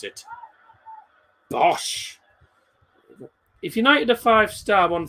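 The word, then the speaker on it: Bosz: And the manager, however you pronounce him, Peter Bosch, B-O-S said is how you pronounce it. Bosch.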